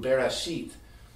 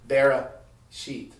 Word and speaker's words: Bereshit: The first letter of Genesis in Aramaic and Hebrew, Bereshit. It's not Bereshit. It's actually Bereshit. It's just not pronounced. It's there. It keeps the word moving, but it's silent.